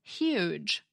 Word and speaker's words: huge: Now say the word huge. What sound does it begin with? H again? Well, yes and no. It's true that we hear it as an H, but it's not the same kind of H that we have in hug.